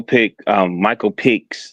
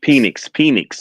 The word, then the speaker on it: Penix: I said with Michael Pickens. Did I say his name right? Michael Pickens being QB1. Penix. Okay. Penix. Yeah, Michael Penix being QB1.